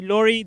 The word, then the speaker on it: Lawry: It's actually Lawry. The K is silent, but it's there.